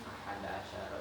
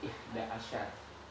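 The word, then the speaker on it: أحد عشر: Kalau dalam pengucapan ahada asyara itu bisa bilang ihda asyar. Ihda asyar atau ahada asyar. Biasanya kalau dalam transaksi orang-orang Arab biasanya ihda asyar biar cepat.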